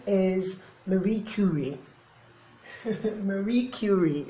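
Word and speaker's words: Curie: name is Marie Cy Marie cury okay if you want to pronounce it you know the should I say English way so yeah that's Mary cury and she is she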